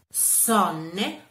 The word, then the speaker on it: Sonne: Per esempio, sonne. Sonne è una O aperta perché è seguita da due consonanti, quindi sonne aperta, mentre rot si legge